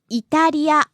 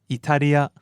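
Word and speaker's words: イタリア: First word, Italia. Italy and low to high, right? Italia.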